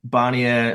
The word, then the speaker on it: Barnier: Barnier, spelled like Garnier Fructis, but with a B.